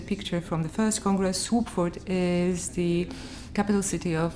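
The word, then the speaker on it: Słubfurt: from the first congress swoopford is the capital city of this land it's quite clear swap for it written like this the second letter is actually pronounced just like the english w in 1998 wubitz and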